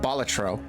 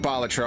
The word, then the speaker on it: Balatro: The Joker from Balatro, and I am going to pronounce it Balatro. I know, like, no matter how you say Balatro, at least one person will be like, it's Balatro. Get it right. Balatro. It's a Latin word, it's We're pronounced playing Balatro. Also, Balatro. Local Thunk himself said it doesn't matter how you pronounce it.